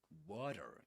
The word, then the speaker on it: water: We call that a flap T. A flap T in water. We say this is a a flap T, which means that it's pronounced just similar to a D sound.